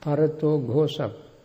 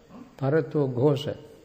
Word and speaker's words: parato ghosa: Parato Ghosa. Parato Ghosa. Parato? Ghosa. How do you spell that?